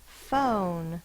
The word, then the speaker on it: phone: to be short but the word is phone that's the o sound so we need the silent E the E goes in the same box as the N because the E does not make its own sound it makes the o say its long sound so we put the